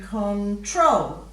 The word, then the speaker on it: control: last part rule and in control you're going control so the the emphasis is on the second syllable in each of those words which means when you're